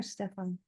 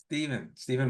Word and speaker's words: Stephen: Is it Stephen or Stefan? Stephen Michael.